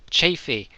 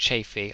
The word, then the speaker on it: Chaffee: is in the M24 chaffy I'm pretty sure it's pronounced chaffy I I did go and look up a pronunciation and I'm yeah I'm fairly certain I've got that right but I'm sure someone